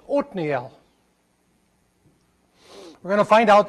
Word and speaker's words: Othniel: We can say Othniel if you like that. That's the way I said when the King James was my Bible. But when I lived in Israel for a while, I learned that that's to be pronounced Othniel.